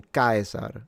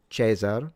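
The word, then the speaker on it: Caesar: And then when it comes to the pronunciation of the C as in Kaisar instead of Chzar for instance, which is the ecclesiastical Latin, the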